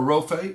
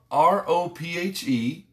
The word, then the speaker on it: Rophe: In the midst, Jehovah, R-O-P-H-E, this is R-A-P-H-A-H. So it's real close. It's pronounced very close to the same. Rapha, Rophe.